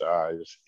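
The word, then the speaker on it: EIES: electronic information exchange system pronounced eyes e-i-e-s and uh uh he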